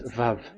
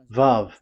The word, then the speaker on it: vav: We called it as Vav. Vav. Your claw, your mouth is like closed. Vav. So it's V as in Vogue.